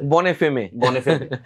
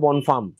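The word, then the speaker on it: Bonne Femme: বনেফেমে, বা বনেফেম, অনেকে বনেফেম বলে, অনেকে বনেফেমে বলে, কিন্তু অরিজিনালি ফ্রেঞ্চ ভাষা যেটা, ফ্রেঞ্চ উচ্চারণে এটা বনফার্ম, দ্য গুড ওয়াইফ।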